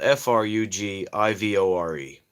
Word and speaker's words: frugivore: you could imagine we as primates have a forgiverous digestive system forgiverus forgiverus not sure the word how do you pronounce it is the g hard or soft it's spelled f-r-u-g-i-v-o-r-e frugivore and because we're primates we have the